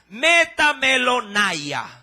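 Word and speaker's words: μεταμέλομαι: n a i ahí un poquito más larga metam melona Sí y la primera metanoia más chiquita ahora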